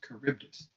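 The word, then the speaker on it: Charybdis: picture here oh there's a caribdis on the map and the pronunciation is carus um or big toothy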